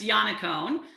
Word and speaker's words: Yannaccone: Am I going to say your name wrong, Sue? Is it Yannaccone? Yannaccone? It took me a while too. It's Yannaccone.